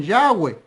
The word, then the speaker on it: Yahvé: Bueno, 4 consonantes como estas, solamente hasta donde podemos saber se pronuncian Yahvé. Otros lo pronuncian Yahweh, otros lo pronuncian Yahweh, pero hay un problema allí.